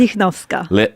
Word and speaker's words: Lichnowska: And how do you pronounce it? Lichnowska.